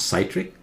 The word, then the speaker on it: citric: Citric acid, not citric, citric acid. Okay? Got it? Citric acid. This one, like citrus fruit.